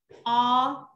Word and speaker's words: orange: Orange. Ok, nếu mà các bạn phát âm âm j đúng không?